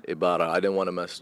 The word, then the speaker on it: Ibarra: Ibarra. Ibarra.